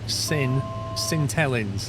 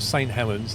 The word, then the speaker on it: St Helens: sings Get It Right sin cellin that's how they say it not St Helens they say cellin how can it not